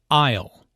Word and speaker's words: aisle: who does which task Isle notice the silent s in Isle an aisle is an